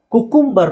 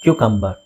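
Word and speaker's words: cucumber: ಪೀಪ್ಸ್ ಅಂತ ಹೇಳಿದ್ನಲ್ಲ ನೆಕ್ಸ್ಟ್ ಇದು ಕುಕುಂಬರ್ ಅಂತ ಹೇಳ್ತಾರೆ ತುಂಬಾ ಜನ ವಿಚ್ ಇಸ್ ರಾಂಗ್ ಕ್ಯೂ ಕಂಬ ಏನ್ ಹೇಳಬೇಕು ಕ್ಯುಕಂಬ ಏನ್ಹೇಳಿ ಕ್ಯು ಕಂಬ ಕ್ಯೂ ಕಂಬ ಕ್ಯುಕಂಬರ್ ನೆಕ್ಸ್ಟ್ ಟೊಮೆಟೊ ಅಥವಾ ಟೊಮಾಟೊ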